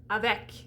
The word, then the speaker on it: avec: pronounce it it's closed so we're talking about the word avec so here we have an a we already know how to do the a's a vec that's not just at the end of words this is if you have a syllable ending in a pronounced consonant okay so if you if like a word that is multi-syllabic like espanol s it's going to be an open e because that's one syllable